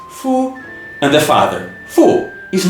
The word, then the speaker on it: 父: and according to anology book the man being pronounced Fu and the father fu is no coincidence they